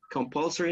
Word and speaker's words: compulsory: So with the introduction of a certain compulsory, you have the stress on the second syllable, compulsory number of positions for women helped change that?